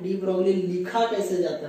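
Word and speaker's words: de Broglie: एक बार उच्चारण कीजिएगा डी ब्रॉग नहीं बोला जाता है बोला जाता है डी बगली ओ को थोड़ा खींचा जाता है आप एक बार ट्राई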